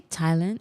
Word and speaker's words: Thailand: Do you say Thailand or because there's a th No, it's Thailand. I know it's Thailand, but why is there an H there if it's not pronounced Thailand?